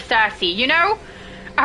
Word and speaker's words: Cersei: They say CSE instead of Cersei, you know.